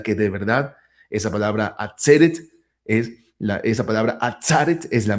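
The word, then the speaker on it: עֲצֶרֶת: a pensar o decir por qué motivo aparece la palabra atzeret escrita como atzaret. Bueno, es a causa de la pausa mayor o acento disyuntivo que está en esa sílaba donde antes estaba la segol.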